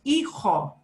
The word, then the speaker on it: hijo: is in the word, but we don't pronounce that letter. So we've got words like this. Repitan, por favor. Hijo, Hijo.